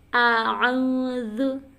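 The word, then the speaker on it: أعوذ: A'udzu. Nah, kayak gitu. Ain ya. Kalau pengucapan ta'awuz nih perlu kita perhatikan antara pengucapan si hamzah dengan si ain ini karena makhraj hurufnya berbeda.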